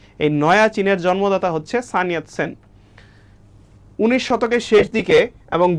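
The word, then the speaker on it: সান ইয়াত সেন: সানিয়াত সেন মানে হচ্ছে চাইনিজ উচ্চারণ করলে যেরকম লাগবে সেরকম উচ্চারণ করতে হবে, সানিয়াত সেন।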